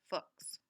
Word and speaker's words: Fuchs: The solution for English speakers pronounced it to rhyme with books.